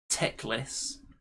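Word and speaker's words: Teclis: cow than the rest now this is obviously teclas and selenar apparently that's how you pronounce it which is quite obviously a giant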